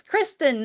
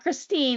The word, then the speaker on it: Kristen: And only at the end of the year did she tell me, it's Kristen, not Christine.